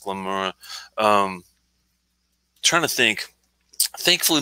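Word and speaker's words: Glen Moray: familiar with glenmora uh spelled g-l-e-n space m-o-r-a-y pronounced glenmora um trying to think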